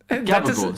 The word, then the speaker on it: gabagool: Gabagool, Sicilian pronunciation for the spicy deli ham capicola.